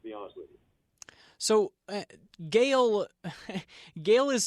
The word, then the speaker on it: Gael: of it to be honest with you so Gail Gail is spelled g a l but you also got